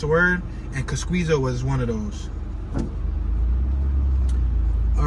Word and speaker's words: Kosciuszko: Cosquizo Park.